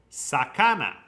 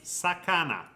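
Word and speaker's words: さかな: Japan so yeah then we have fish s Sakana is fish in Japanese Sakana s Sak s Sakana s Sak s fish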